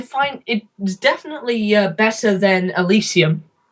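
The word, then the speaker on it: Elysium: it definitely better than alysium you mean alysium or how or elium however you pronounce El alysium I think I think that's actually how you pronounce it El alysium um it's it's better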